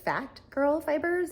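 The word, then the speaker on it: Phat Girl Fibers: As I'm getting started, I forgot to mention that this yarn is from Fat Girl Fibers. It's spelled P-H-A-T, Fat Girls Fiber.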